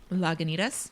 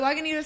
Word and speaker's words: Lagunitas: You pronounce it much sexier than I. Lagunitas?